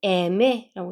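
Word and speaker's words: eme: 그 다음에 얘는 M은 스페인어에서는 에메라고 있습니다. 에메, 에 강세 주시고요. 에메라고 읽으면 돼요.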